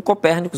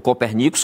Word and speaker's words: Copernicus: europeu e aí o o Copérnico ou o copernicus como alguns pronunciam que é este Observatório